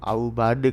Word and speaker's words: Aubade: Nah, bacanya Aubade kalau dibaca, follow saja.